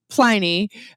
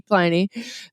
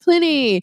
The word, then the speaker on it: Pliny: American English, it is a long I with one consonant. So that is why we call it Pliny with a long I.